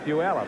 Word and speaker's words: Puyallup: Well, out here we got Puyallup. Is that how they pronounce that? Puyallup. I thought it was Taliyah. It's Puyallup, huh?